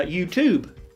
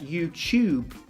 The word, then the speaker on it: YouTube: British English we would we pronounce that YouTube as if it's like a CH so yeah sometimes American